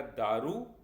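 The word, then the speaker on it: دو: दरवाजा अगला शब्द है दो इसे हम फारसी में द कहते हैं इसका मीनिंग टू होता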